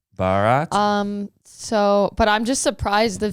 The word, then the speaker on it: Bharat: It's Bharat, not Bharat. Bharat.